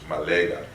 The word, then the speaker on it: Ma'at: So if you want to say Ma'at in a more modern sense, this is how you pronounce it, like in the Bassa Cameroon language, Malega.